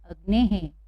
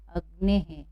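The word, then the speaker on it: अग्नेः: पीछे विसर्ग है, तो यहाँ पर भी हेकार होगा, और कुछ इस तरह से हम इसको पढ़ेंगे। क्या पढ़ेंगे? अग्ने है। कैसे पढ़ेंगे? अग्ने है। ठीक है, जो छोटी की मात्रा है बाहर जाएगी और ए की मात्रा हो जाएगी, अग्ने है।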